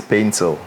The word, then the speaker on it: Paintsil: The pronunciation is Paintsil. Paintsil. Yeah, Paintsil. But Paintsil became Paintsil because there was a mistake from the passport office here in Ghana.